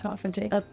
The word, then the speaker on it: autophagy: clean clinical skin care brand focused on stimulating autophagy. Is that how you pronounce it? Yes, it's autophagy.